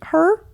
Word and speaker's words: Herr: and I said well how do you pronounce it her just like the way you're saying it I was like what